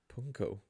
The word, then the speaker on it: pwnco: How do you pronounce that? PWNCO. Punko? Punko.